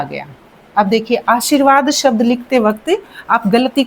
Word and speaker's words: आशीर्वाद: तो हम जब उच्चारण करेंगे इसका आशीर्वाद यानी श जो शी बोलेंगे उसके बाद र आ रहा है तो उसके बाद आ रहा है तो यहां पर लगेगा आशीर्वाद बन जाएगा इसका।